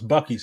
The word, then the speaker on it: Buc-ee's: You said bussy. I thought that's how it's pronounced. I do like the cute. No, it's Buc-ee's.